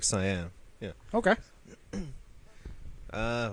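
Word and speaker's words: Caen: again C aen but I think it's a soft C cuz it's French yeah it's like it sounds like sayyan yeah okay uh W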